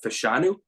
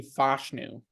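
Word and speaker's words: Fashanu: of Penn State uh fanu I'm sorry if I'm pronouncing that wrong again um I got them taken technically fashu fashu okay I gotta work on these I was saying fashu for months too he offensive tackles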